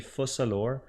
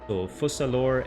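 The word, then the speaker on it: Focalors: city we'll pronounce s fusalor and the S at the end of the name is silent as well and yeah that's pretty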